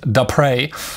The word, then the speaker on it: Depré: It's a French name. Sorry again for the last name. He says it's pronounced Depré. So Michael Depré.